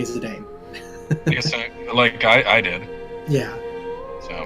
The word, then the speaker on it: Zidane: I don't know anyone who didn't say Zidane. Yes, I did. Yeah. So. But it's been established multiple times that it is Zidane by multiple sources. So.